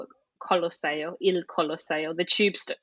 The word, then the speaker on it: Colosseo: now, got this nickname, Colossus, Colosseo, which is how you say it in Italian, or to us, it's Colosseum.